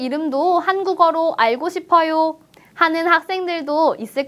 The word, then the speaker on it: 학생: 볼까요 선생님 선생 님 학생 학생 우리가 공부했던 발음 규칙을 잘 생각하면서 된 소리로 읽어 주세요 학생입니다 그럼 학생 중에서도